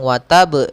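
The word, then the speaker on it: وتبّ: Akan tetapi qalqalah dalam sini itu kita tekan dahulu ke ba-nya, tidak langsung watab, tapi dia watab. Kita tekan dulu ba-nya baru kita matulkan watab. Ya, watab. Ya, watab. Ya, tidak ada tambahan hamzah, tidak be gitu ya, tapi watab.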